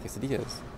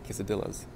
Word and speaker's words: quesadillas: the menu they have quesadillas well the guy's friend legitimately called him kiss Aviles like that's the way she pronounced him I'm not even joking